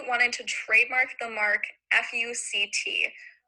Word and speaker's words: FUCT: Brunetti wanted to trademark the mark FUCT, which sounds a little bit like FUCK when you actually say it out loud.